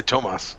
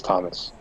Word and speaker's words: Thomas: I will not say why it is Thomas versus Tomas, as that will be spoiling future content. But it is Thomas.